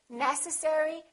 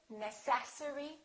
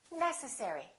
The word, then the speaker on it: necessary: you say this one is it necessary necessary or necessary it's the first one necessary let's do the last